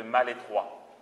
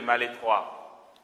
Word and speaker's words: Malétroit: Mère Yvonne Aimée de Malétroit. Vous voulez que j'écrive? Mère, vous savez, ça, Mère Yvonne, ça va. Aimée de ça s'écrit Malestroit, mais on dit Malétroit.